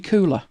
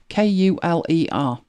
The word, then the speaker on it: Kuler: So initially, way back, it was called Adobe Kuler, Kuler. And that is I think it's an American Indian word for colour. But it's spelled, it's spelt as in you could look at it and think, oh yeah, that's colour or cooler.